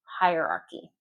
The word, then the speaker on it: hierarchy: A lot of students would skip that I or stress the H part of the word, the H I E R. Hierarchy. No, hierarchy. Hierarchy.